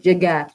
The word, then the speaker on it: llegar: So that double L there is pronounced like a J, really. ¿Cómo puedo llegar a?